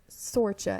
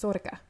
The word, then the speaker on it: Sorcha: then this woman here instead of sorcha as it looks it's sorka interesting huh i am